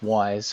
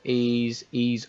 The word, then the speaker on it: Ys: I'll confess straight away, I've been calling this Wise for God knows how long, and actually I've